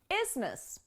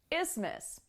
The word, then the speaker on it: isthmus: let's talk about topography isthmus isthmus it's even more complicated when you understand that the th is silent so i guess there's